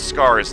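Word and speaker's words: Skaarj: and for the record scars that the J isn't pronounced in silent you don't actually learn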